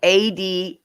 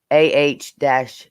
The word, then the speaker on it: Adah: Oh, it's spelled ADAH, and it's pronounced AH-DA.